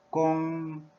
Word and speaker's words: 工: 그다음에 일이라는 건 이제 work이고, 중국어 발음은 중국어 한어병음 성조까지를 포함한 발음은 꽁, 꽁, 일성입니다. 일성.